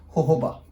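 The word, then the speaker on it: jojoba: सी Indian English में आप जोजोबा बोलते हो, अगर आप ब्रिटिश इंग्लिश की बात करोगे तो दिस इज प्रोनाउंस एज होहोबा. ठीक है. So don't get confuse. आप कहीं पे कोई बोला आपको होहोबा, so that is going to बी इन the British English.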